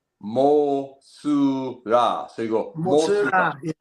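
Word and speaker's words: モスラ: The actual pronunciation of the character is Mosura.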